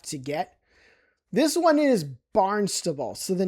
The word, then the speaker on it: Barnstable: It's Barnstable, not Barnstable. That sounds kind of stupid.